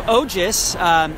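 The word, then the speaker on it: ojas: a real quick what that is yeah so ogis which is spelled o j a s um it's a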